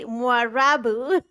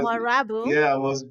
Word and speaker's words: Mwarabu: You just said it like I said it. You said Mwarabu. And that's exactly how I say it, by the way.